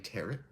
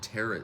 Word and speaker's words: tarot: sorry I always have a terrible habit with pronounce with saying teret so much so that it's one of those